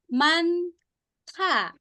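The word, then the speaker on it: 많다: Nah, itu dibacanya manta. Iya, tadi udah nyerempet ya Alunasi. Ada ma, betul, tapi ada bacimnya dia. Mant. Tapi bacimnya double ya, N sama hit. Mant. Da gitu ya, dibaca jadi manta.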